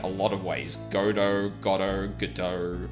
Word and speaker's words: Godot: Not trying to be pedantic, I don't really care either way, but in case you're curious, Godot is pronounced like the waiting...